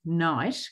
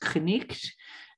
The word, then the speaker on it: knight: have been originally pronounced, knicht. So all of the sounds in the word were originally pronounced.